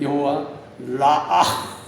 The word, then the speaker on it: 여호와 라아: 그럴 때는 여호와 라아, 여호와 라아, 한번 따라요. 여호와 라아, 라아. 네, 발음이 좀 그렇습니다.